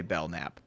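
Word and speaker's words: Belknap: right willy willy w bell knapp i'm going to say bell nap willy b the k is silent so he was implicated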